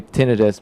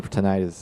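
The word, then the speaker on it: tinnitus: By the way both pronunciation are both fine. So uh we say tinidis but if you prefer tonitis is not wrong. So um either way is good.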